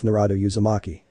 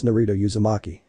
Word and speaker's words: Naruto Yamaki: in Naruto's name I'm not sure how you pronounce this I'll give it a shot though he thought to himself narado yamaki Naruto raises his hand and begrudgingly said it's Naruto yamaki after the classes ended Jean and Naruto were